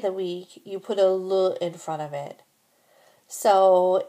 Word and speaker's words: le: Be sure to distinguish between the pronunciation of le and les. In spoken French, that is often the only way to tell the difference between a singular and a plural noun.